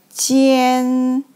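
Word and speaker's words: 奸: means clean or dry so this character is pronounced like Jian and the meaning of this character is very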